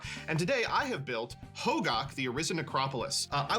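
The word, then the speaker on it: Hogaak: I didn't know that gack is how you say this. What do you all call it? Hogak. Very famous. Summer of the Gak. It is Gak. Like the Nickelodeon slime?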